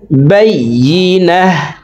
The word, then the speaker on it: البينة: ইল্লা মিম বাদি মা জাআতহুমুল বাইয়িনাহ বলতে ওয়াকফের ক্ষেত্রে হার উচ্চারণ করব এবং হাকে সাকিন করে ফেলব।